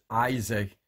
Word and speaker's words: Isaac: lot of people pronounce Isaac in different ways so the proper way to pronounce the word Isaac is Isaac Isaac not Isaac not he's